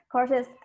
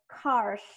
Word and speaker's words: courses: Yeah, courses. At the first time you pronounce it like cars, if I'm not mistaken. So yeah, 9 courses. Be sure you pronounce it well.